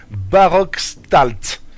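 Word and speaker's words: Barockstadt: Et après Villa Dylan elle arrive à Baroxal. Alors attends, j'essaie de le dire, c'est Barockstalt. Ça s'écrit B-A-2-R-O-C-K-S-T-A-D-T, qui est au final une université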